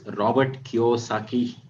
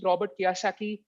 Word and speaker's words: Robert Kiyosaki: first bounce uh i'm not sure if i'm pronouncing it right it's robert kiyosaki plus 100 to you you wish you had